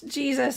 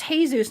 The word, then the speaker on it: Jesus: you Renee but it's she says it's Jesus not Jesus no but you you pronounce it Jesus right yeah I I'm speaking English so I say my name in English I just want to